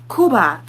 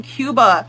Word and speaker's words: Cuba: It's like when people pronounce Cuba Kuba, you don't know Spanish, Griffin. You don't know Spanish. Why are you pronouncing it with a Spanish accent when you don't speak Spanish? Like we're not going to jump you for pronouncing Cuba with an American accent.